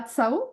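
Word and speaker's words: Cao: plus juridique la professeure Débora Koo ou Débora TSO pour bien le prononcer puisqu'elle est chinoise d'origine et elle enseigne désormais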